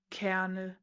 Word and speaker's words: colonel: Colonel. C O L O N E L. And humans pronounce it canel. No. I'm sorry. No. There isn't even an R. Where did you get the R?